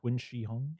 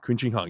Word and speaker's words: Qin Shi Huang: I hope I'm pronouncing this right. The Qin Emperor Qin Shi Huang. Qin Shi Huang.